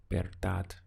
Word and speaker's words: verdad: To say the truth in Spanish is la verdad. We have this B sound for a V in Spanish, remember? So it's ver, sounding like that, ver, and then dad.